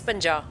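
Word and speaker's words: ਪੰਜਾਹ: 50 is panja. Panja. Panja. Like, it's not panja, the way they say it, the stress is on the last letter.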